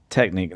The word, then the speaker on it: Technic: Uh you also own and operate Corsa Technic. Now, how do you pronounce that correctly?